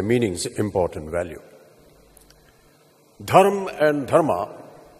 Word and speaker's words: धर्म: result so धर्म mean धर्म टू न धर्मा द मोमेंट य प्रोनाउंस धर्म इन इट्स इंग्लिश अवतार एस धर्मा instead of its actual pronunciation brand धर्म इट्स मीनिंग इट्स परसेप्शन